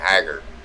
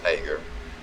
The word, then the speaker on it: Hager: Yeah, that's how he pronounces his name. He actually pulled me into a chat room one night and told me how he pronounced his name, because I was saying Hager. But it's actually his last name is pronounced Hager.